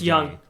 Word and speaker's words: Jung: the Rangers really young do you do you pronounce it young it's young it's young I've watched